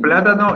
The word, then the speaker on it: plátano: entonces desde una estrella y plátano es esdrújula y si no lo